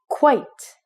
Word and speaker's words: quite: e at the end this word is quite quite so it would rhyme with the word white oh oh so you